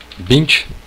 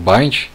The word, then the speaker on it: BIND: Essa ferramenta, ela é chamada Bint ou Bind. Eu vou falar mais Bind por aqui, que acho que é mais fácil pronunciar e rápido.